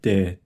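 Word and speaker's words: で: In this lesson, we'll learn the characters da, ji, zu, de, do. To review, what is this character? Ta. Ta with the dakden is pronounced da.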